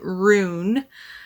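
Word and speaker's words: Wrune: um our horde King roon I think is how you say it's w-r-u-n-e and so he is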